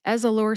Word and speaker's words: Ezallor: Ezallor has 3 syllables. That's Ez, like the name Ezra, like a short A sound or a schwa A sound, and lore, as in folklore.